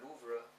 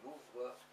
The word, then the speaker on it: Louvre: In my opinion, I like it better even than the Louvre, or Louvre, if you pronounce it the French way.